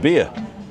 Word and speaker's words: Villa: So actually, Villa is pronounced beer. Yeah. Yeah, Villa. V-I-L-L-A is B-I-Y-A. Beer. Yeah. So, Well, because double L's Y, like paella.